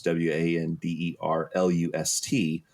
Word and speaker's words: wanderlust: And then the next person did it, and it was WANDERLUST. And in my head, I'm thinking, well, Jiminy Christmas, why didn't you pronounce the T?